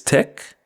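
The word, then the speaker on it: tek: know how we say take in Patois which is Tech make which we pronounce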